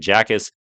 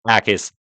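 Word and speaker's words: Jacas: I've been saying Jackis. It kind of sounds funny. It's not even correct. It's Gabe Ais out of Illinois.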